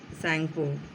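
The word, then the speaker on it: Tsangpo: इट is known by the name सैंगपो, और इसे सैंगपो नाम से जाना जाता है. यहाँ टी साइलेंट है.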